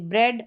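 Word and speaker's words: bread: इ ए का ए करके उच्चारण है। यहां पर देखें इ ए जैसे ब्रेड और हेड यहां पर ए इसका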